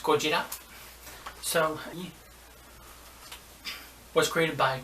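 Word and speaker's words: ゴジラ: Today's new video is going to be about this movie and about Godzilla, pronounced Gojira.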